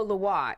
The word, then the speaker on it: Lwa: Oh, Loa. Yeah, Loa. That's how you pronounce it? Yeah, Loa? Loa. LWA. Is that French or something? Or yes, Creole? it is French.